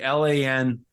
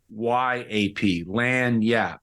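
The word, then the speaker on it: lagniappe: And it's a word called Lanyap. Okay. How do you spell that? Yeah, it's hard to spell. Okay. Lagniape. Okay. Phonetically, Gina, it would be Lanyap, Lanyap.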